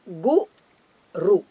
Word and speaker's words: Guru: The word is Gu-ru. Both are Hraswa short letters.